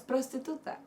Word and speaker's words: prostituta: It's prostituta.